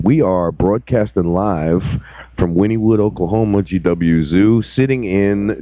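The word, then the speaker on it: Wynnewood: are broadcasting live from Winnwood Oklahoma GW Zoo sitting in Joe Exotic TV studio I still can't believe I was pronouncing Winnwood wrong the whole entire time winewood for like months would and even when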